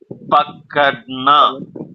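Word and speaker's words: पकड़ना: ஆர் இருக்கு, ஆனா D sound வரும்.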